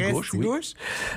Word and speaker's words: Restigouche: chaleurs tourne dans la rivière Listigouche que nous les français on a francisé, on dit restigouche euh la rivière lugou